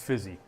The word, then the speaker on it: Rizzi: Who Alvin Kamara is wants Darren endorsing Rizzi, yeah. said my choice rhymes with fizzy.